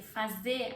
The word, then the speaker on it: fazer: Fazer, I'm not pronouncing fazer, because fazer there is an R, but I'm skipping this R.